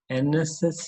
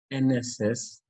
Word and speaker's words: NSS: sentence i met an nss volunteer in your school here and not a because when you are pronouncing nss n e n e sound is emanating e sound is coming when we pronounce nss